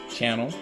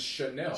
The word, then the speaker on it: Chanel: man first slide and then Channel Chanel I don't know I like that song